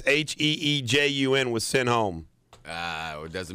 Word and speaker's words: Heejun: How do you pronounce this guy's name? It's Heejun was sent home.